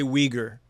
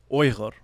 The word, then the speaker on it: Uyghur: So, before I continue this conversation, I just want to let people know, in English, we say Uyghur, but it is properly pronounced, and correct me if I'm wrong, Uyghur. Yeah, Uyghur, perfect.